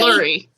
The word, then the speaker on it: Lurie: Lurie. It's like Larry, but it's spelled with a U.